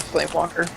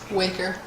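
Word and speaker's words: Flamewaker: Not on the flame walker. Waker.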